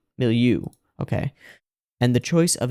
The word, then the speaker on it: milieu: or the cultural milieu no how do I pronounce that below middle milieu milieu okay and the choice of a masculine ideal